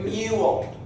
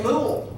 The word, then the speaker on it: mule: o o sound mule it's a long u right it says its name mule because we don't say mool all right it's not